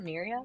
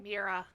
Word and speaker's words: Mira: Miria? Mira. Mira? Like a weird way of saying mirror, but Mira.